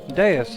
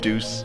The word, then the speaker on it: Deus: Your actual body is but a physical object, has merely been absorbed into Deus' outer shell. Only your consciousness is here. Are you tired of saying deuce? Because it's specifically pronounced deus.